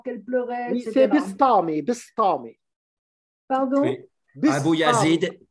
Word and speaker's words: Bistami: c'est Bistami, Bistami.